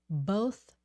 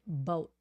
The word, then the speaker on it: both: so it's boat but both you and I can pronounce both and both both you have to put your tongue out if you don't put